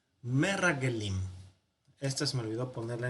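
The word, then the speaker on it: מרגלים: Rag, donde cierra, aquí, porque tiene el Dagesh fuerte, entonces significa que se duplica. Merrag Gelim. Bueno, ahí está.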